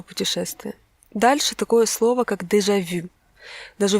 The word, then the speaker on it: déjà vu: Дальше такое слово, как «déjà vu». Даже в русском языке оно есть, я думаю, многие знают, что оно значит. Американцы произносят немножечко исковерканно, они произносят «déjà vu». Не «vu», а «vous». Déjà vu.